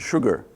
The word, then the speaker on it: Sshoogr: that combination of letters it's sugar like sugar salt pepper sugar so few words about